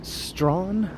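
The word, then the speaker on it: Strachan: about at strawn avenue that's one of the streets that no one is sure how to pronounce based on its spelling but i believe it's strawn that's how i say it anyway it looks like stragon or strahan or something like that where it's spelled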